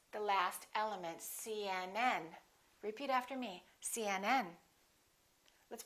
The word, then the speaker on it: CNN: the rule is we stress the last letter of an abbreviation for example cnn ucla